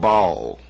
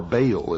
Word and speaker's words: Baal: For this is the only ancient portion, the beginning of the ancient worship of Baal, or Baal as some pronounce it. Ba was the sun, El means God.